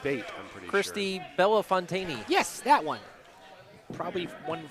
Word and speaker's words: Bellefontaine: might be B something it's not bait Christy Bella Fontaine yes that one probably one with one less